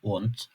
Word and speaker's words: und: "Circa", "Cafe" D harfi Türkçedeki gibi fakat kelime sonlarında T gibi telaffuz edilebiliyor. Örneğin "UND", "ABEND".